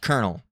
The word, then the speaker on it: colonel: Oh, now it's uh pronounced colonel, which makes zero visual sense.